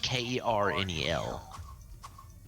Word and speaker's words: colonel: Have you ever wondered why Colonel is spelled the way it is? It's fucking stupid. That's what it is. Yeah. Colnel, I think it is. Colnel. But it sounds like Kernel.